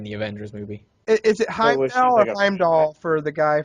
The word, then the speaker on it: Heimdall: Is it Heimdall or Heimdall for the guy from Asgard? Heimdall. I Heimdall. think is how I pronounce his name.